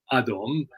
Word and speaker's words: Atom: Which is it's Adom, and in Eastern Armenian that is conveniently Atom, but it is pronounced with a toe. I'm not using a dune, like very, very clearly.